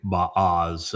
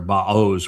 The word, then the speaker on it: Boaz: Boaz. It's actually Baaz, or Baoz would be the proper pronunciation if you were to look at the component parts.